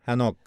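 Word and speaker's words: Hanokh: hemos hablado de hanoi según como pronuncie su nombre en hebreo es a nok nos dice caminaba con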